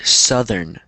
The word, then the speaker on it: southern: Yeah, so the TH is a little bit difficult, but look at it, look at the word, or try not to look at the word, so listen to the pronunciation. Southern. Southern. Southern. So it's two syllables.